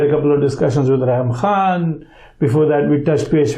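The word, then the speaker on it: Reham Khan: We keep mispronouncing that name. We need to be accurate. She corrected us, so that's why she actually corrected us. The name is Raham Khan.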